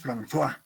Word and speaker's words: François: Se escribe Francoise, pero como es O-I-S-E, se pronuncia en francés François, ¿ya?